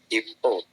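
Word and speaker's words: いっぽ: Ippo. Ippo desu ne. Kak Sulaiman sekarang tinggalnya di mana? Jakarta. Jakarta desu ne. Oke. Ippo. Jadi tekenin, berarti tekenin ke awalnya ya.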